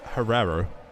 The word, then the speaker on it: Herrero: But thankfully, we have had a message in the chat telling us how to pronounce Hero's name. It's Herrero. Herrero, that makes more sense, yeah.